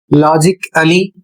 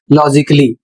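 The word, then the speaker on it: logically: और इसको यदि आप पढ़ते हैं लॉजिकली तो आप गलत पढ़ रहे हैं। इसका सही उच्चारण क्या होगा? इसका सही उच्चारण होगा लॉजिकली।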